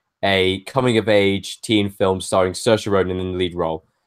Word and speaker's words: Saoirse: comedy-drama film directed by Greta Gerwig and starring Saoirse Ronan I think I've nailed that pronunciate you have nailed that positions Laurie Metcalf